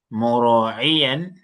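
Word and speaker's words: مراعيا: Mura'iyan. It has to be mu. With the dhamma. Mura'iyan.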